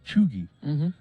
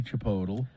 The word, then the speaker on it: Chipotle: is in fact how you pronounce it chugi now I don't know I for some reason they say that I've gone to those Chipotle restaurants before and but they say that apparently that's not how you say it it's not supposed it should be Chipotle